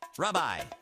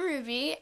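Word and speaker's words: Rubye: do you pronounce that hi I'm Ruby r u b y e people call me a lot of different things Ruby rub rubadub rubby Rubi but then I have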